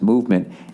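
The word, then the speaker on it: MVMT: there movement watches everybody movement watches pronounced movement MV MT that's how they spell it was founded on the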